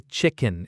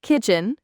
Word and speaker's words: kitchen: So remember, kitchen starts with that clear K sound. Don't mix it up with chicken, which starts with a ch sound, like in chocolate.